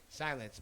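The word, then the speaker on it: Psylenc: name of your studio silence p-s-y-l-e-n-c oh it's spelled with a p like psychedelic psychoactive uh psychology uh i made it up when i was like 14.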